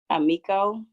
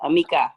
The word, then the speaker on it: Amika: This one, Amico. Is that how you say it? Amika. I'm sorry.